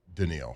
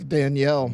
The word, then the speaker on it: Danielle: making plays everywhere and his name's not Denil right it's Danielle yeah it's not